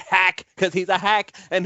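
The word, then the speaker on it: Haack: He's gonna get Matt Hawk out of here, and I'm gonna actually say his name the way that it feels like it's spelled, Matt Hack, because he's a hack,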